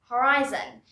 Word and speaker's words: horizon: one thing here here the hori section of the word is pronounced as hawaii horizon and here it's pronounced as hurry horizontal but here one more thing we don't really probably pronounce the h we say horizontal and this is horizon our next pair of